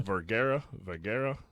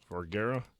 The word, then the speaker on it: Vergara: Vergara. Vergara.